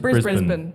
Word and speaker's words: Brisbane: Brisbane.